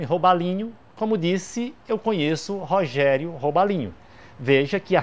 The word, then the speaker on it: Rogério: Eu posso dizer: eu conheço Rogério Robalinho. Mas eu não posso começar o decassílabo com o nome Rogério, Porque a sílaba tônica de Rogério é a segunda e eu preciso que seja a terceira.